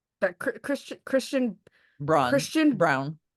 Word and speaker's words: Braun: like that Braun Christian Brown. Brown, whose name's spelled like Braun.